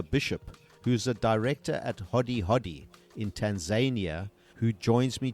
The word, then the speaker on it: Hodi Hodi: First of all, Hodi Hodi, is that the way that we pronounce it? Yes, it's a Swahili word, and it means knock knock.